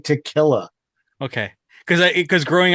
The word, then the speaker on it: tequila: the edge so tequil tequilla yeah they're releasing their own tequilla Accent on the key key tequila tequila close so they're releasing their